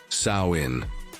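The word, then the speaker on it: Samhain: As you are learning, it all began with the festival of Samhine, pronounced Sain, celebrated by the Kelts more than 2,000 years ago.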